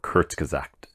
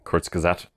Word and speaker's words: Kurzgesagt: a car channel, but it's a channel called Kurzgesagt. Which, I'll probably spell that out for you because, I'll say it again, Kurzgesagt.